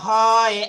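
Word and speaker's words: ح: আচ্ছা, এই এই হা কিন্তু উচ্চারণ হবে একটু কণ্ঠনালী থেকে। কণ্ঠনালী থেকে হা উচ্চারণ হবে, ভিতর থেকে উচ্চারণ হবে হা হা।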